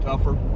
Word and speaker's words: Topher: Looks like Topher, T-O-P-H-E-R, but I pronounce it Tougher.